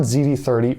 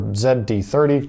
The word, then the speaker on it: ZD30: And what I'm talking about is the Nissan ZD30 or ZD30, depending how you want to pronounce it.